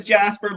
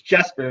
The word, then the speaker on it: Jesper: At first I thought it was Jasper, but then I saw it was spelled with an E, and then I heard his name. It's Jesper, not Jasper.